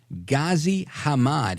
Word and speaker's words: Ghazi Hamad: So that again is, I don't want to mispronounce his name. Hang on here. It's Ghazi Hamad.